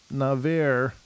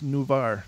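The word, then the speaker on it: Navarre: in beach town called NAVAIR oh it's new bar new bar she says she did up in the phonetic pronunciation I love you for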